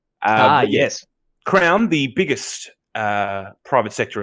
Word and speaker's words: Crown: it's almost like it's it's pronounced crown like the tv show yes crown the biggest uh private